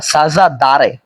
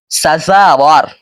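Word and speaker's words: سزاوار: অর্থ হলো সাজা সাজাওয়ারে অনেকে এখানে ভুল করে বলে ফেলি আমরা সাজাদারে আসলে উচ্চারণটা হলো সাজাওয়ার অর্থ হলো যোগ্য ব্রাদারি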